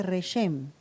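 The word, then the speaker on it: רחם: Matriz en hebreo se dice reshem. ¿Cómo se dice matriz en hebreo? Reshem.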